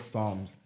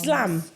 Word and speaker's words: Psalms: Silent P. Psalms. Slam.